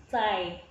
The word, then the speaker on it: zai: Z itu kan letak lidahnya di antara gigi atas dan gigi bawah. Zai.